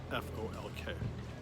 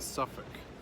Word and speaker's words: Suffolk: are spelled Norfolk and Suffolk? So if you say Norfolk or Suffolk, you're gonna get a slap up the side of the head. Try Norfolk and Suffolk.